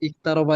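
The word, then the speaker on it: اقترب: কিন্তু শুরুতে থাকলে উচ্চারিত হয়, ঠিক আছে, কিন্তু শুরুতে থাকলে উচ্চারিত হয়। তো উচ্চারিত হয়। এখানে কি বাক্যের শুরুতে না, আয়াতের শুরুতে তো, এটা 1 নম্বর আয়াত, জি আয়াতের শুরুতে আসছে। হ্যাঁ, ইকতারাবা, ইকতারাবা লিন্নাসি হিসাবাহুম। ইকতারাবা এখানে কি শুরুতে আসছে, ঠিক আছে।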